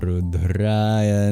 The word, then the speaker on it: Rudraya: Om Chang Chanda Rudraya Namah. For example, the O's are always long in Sanskrit, as is the A in Rudraya.